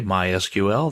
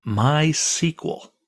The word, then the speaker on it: MySQL: that in a minute people in the know don't say MySQL they say my sequel that's generally how it's